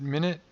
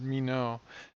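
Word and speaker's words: Minot: is from me know is it minute or is it me know I wanted I would want to pronounce it like sort of you know French pronunciation which would be me know but it's probably mine it or minute ha Wow you I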